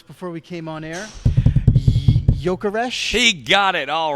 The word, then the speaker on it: Gyökeres: Gyökeres.